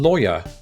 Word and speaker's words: lawyer: why okay next one how do you pronounce the first syllable in lawyer apparently like that rhymes with boy yes or rhymed with flaw so now it's the